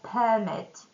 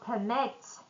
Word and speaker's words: permit: If we put a stress on the first syllable, so it's going to be you need a permit to operate. So it's going to be a noun and a verb when we stress the second syllable.